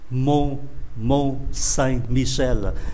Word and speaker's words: Mont Saint-Michel: Chúng ta đọc là âm mũi. Mont Saint-Michel.